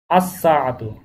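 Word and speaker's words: الساعة: সাআতুন, তাহলে হবে আসসাআতু, আসসাআতু, তাহলে দুইটা বিষয়, একটা হচ্ছে আলিফ লাম যুক্ত হলে কোন ক্ষেত্রে লামের উচ্চারণ হবে, কোন ক্ষেত্রে লামের উচ্চারণ স্পষ্ট হবে না, এটা একটা বিষয়।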